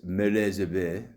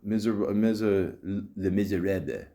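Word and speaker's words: Les Misérables: The historical biopic Michael Collins, Les Miserables. How do you say that? Not miserable. Les Miserables.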